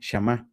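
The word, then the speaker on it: שָׁמַע: Si escucháramos a alguien que habla hebreo pronunciar esa palabra, su sonido sería este, shamá.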